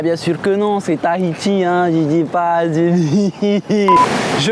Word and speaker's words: Tahiti: Les locaux le savent déjà, bien sûr, mais sachez que contrairement à la langue française, le H n'est pas muet comme dans les mots histoire ou hôpital.